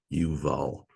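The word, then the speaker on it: Iuval: It's spelled with an I, actually, not an L. It looks like a lowercase L in some fonts, the capital I, and it's not pronounced. It's like a Y. Yuval.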